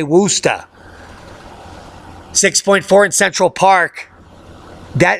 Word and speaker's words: Worcester: You could say Worcester. Worcester. I know you want me to say Worcester. That's not how it's said, unless you live there. Because I lived near Worcester, PA. Worcester. So it depends on your dialect.